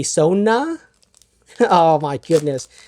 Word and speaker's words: Sona: I I feel like I want to pronounce her name as Sonia, but it's obviously Sona.